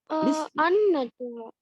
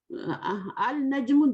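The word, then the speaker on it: النجم: An-najmu. Al-najmu, this is right or wrong? Al-najmu, this is Wrong. wrong. What is right? An-najmu. An-najmu is right because it Okay. is the sun letter.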